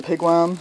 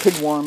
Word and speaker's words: pigwam: Even the pigwam is a little bit cheaper. I used to call it pigwarm, and then I realized that's not how it's spelled.